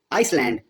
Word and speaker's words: island: Other examples include Iceland, spelled as island, without the S pronounced. Salmon, spelled as salmon, without the L pronounced.